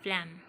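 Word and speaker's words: phlegm: जी basically यहाँ पे होगा साइलेंट, फ्लैम।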